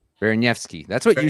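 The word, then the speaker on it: Baraniewski: Baranievsky.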